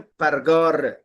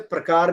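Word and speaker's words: پرگار: नारगील के बाद नेक्स्ट आप वर्ड देखें, परगार, जिसे प्रकार भी कहा जाता है।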